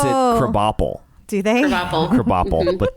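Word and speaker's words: Krabappel: Crabapple, but they pronounce it Crabapple.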